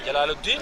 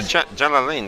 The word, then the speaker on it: Jalalain: Jalaluddin or what? No. Jalalain. That's how they pronounce.